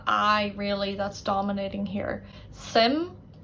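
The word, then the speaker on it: suim: First one, sim, meaning interest. Sim. As you can see, it's really almost like SIM, sim, Sims.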